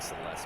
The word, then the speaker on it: Celes: and that would be Terra, Celes, Celeste. I like Celeste better as a pronunciation for her.